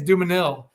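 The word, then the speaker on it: Dumesnil: I think it's actually Dumanil. I don't think the S is pronounced actually.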